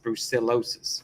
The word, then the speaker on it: brucellosis: It has got a extra syllable in it. It's brucellosis. Brucellosis. Bruce Bruce Bruce celosis. Brucellosis.